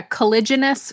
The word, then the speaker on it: Caliginous: you all right go ahead collig yeah yeah collagenous Chronicles yeah I I spelled it phonetically on my paper here you have to